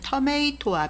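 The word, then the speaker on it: tomato: 나드리 한국에서 토마토라면 명칭은 영국식 영어에서 유래한 명칭입니다 미국식으로는 토메이토 비슷한 발음이납니다 호주처럼 영국식 단어를 많이 쓰는 영업권 국가에서도 토마토와 비슷하게 부릅니다 한국에서는 토마토라고 불립니다 가지과의 토마토는 굴식 로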